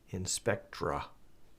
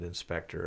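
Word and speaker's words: Inspectre: e c TR e in spectra is how it would be pronounced here in the in the US but inspector overseas and it's a free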